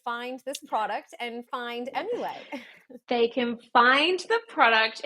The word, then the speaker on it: Emulait: um emul is spelled e m u l a i t it's like emulate you're emulating the breast but it's a play on the French word for milk which is leay so